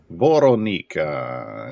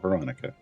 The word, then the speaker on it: Vorona: Grim prudence and vorona vorona and yes that's that's that's how you say it it's not Veronica uh all right uh